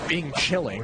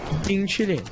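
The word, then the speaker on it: 冰淇淋: Yeah, it's obviously it's not Bing chilling, but it's Bing chilling. There's no second G. It's just chilling.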